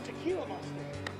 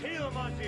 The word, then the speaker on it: Gila monster: Another tequila monster. It's pronounced Gila monster, you snowbird.